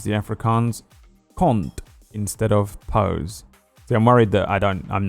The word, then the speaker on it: pos: The Afrikaans word for cunt is pos, pronounced like puss.